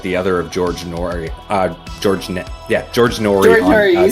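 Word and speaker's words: George Noory: George Norrie on you said it right.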